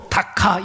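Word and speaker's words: דכא: 앞에서 통해 있다라는 것이에 히브리어로 다카 이렇게 발음을 하는데 다하라고 발음을 하는데이 말은 가루가 되다 완전히 산산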